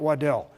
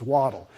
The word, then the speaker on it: Waddell: Well, by the way, it is Waddle, like a duck, not Waddell. Gord is a Scotsman, and his proper pronunciation is Waddle.